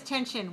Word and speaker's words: tension: Another one is tension, which is usually kind of about the physical, like rubber band, the tension in there. So that's another noun, T-E-N-S-I-O-N, also 2-1.